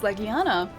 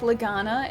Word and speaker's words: Legiana: And it's Legiana. It's not like Legana. It's not anything else. It's Legiana. Even though it sounds weird, it's apparently accurate.